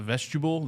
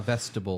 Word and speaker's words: vestibule: It sounds like vegetable, but it's not. The vestibule, the area there. Vestibule. Vestibule. Yeah, so Vestibule. no sh in it, just vestibule. I think it's vestibule.